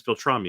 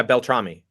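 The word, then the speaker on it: Beltrami: Marco um the the the proper way to say his last name is Bel tramy am I saying that correct yeah Bel tramy yeah yeah okay perfect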